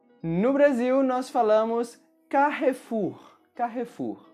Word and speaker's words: Carrefour: Carrefour. No Brasil, nós falamos Carrefour. Carrefour. No português brasileiro, todas as vogais são bem pronunciadas, então Carrefour.